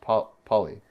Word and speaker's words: Phaly: Wait, so it was spelled like the word pale, but it's pronounced p poly.